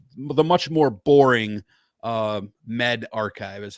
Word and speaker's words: medRxiv: and those who are from yale university so metavericks rix is actually not how it's enunciated it's spelled m-e-d-r-x-i-v um which is why i've been